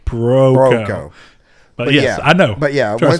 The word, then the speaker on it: Broco: Dude, Don Bronco. The second ago when I said Don Broco, I had to stop and say Broco.